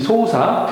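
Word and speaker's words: 捜査: 여기에서 3번의 소사는 이 소사, 이거는 어떤 사건들을 조사하다 할 때 많이 사용합니다. 사건들을 조사할 때 일본에서는 소사라고 합니다. 소사 해서 숫자죠. 수. 한국어로는 수사할 때 수가 소사로 발음이 난다는 점을 참고를 해주시기 바랍니다.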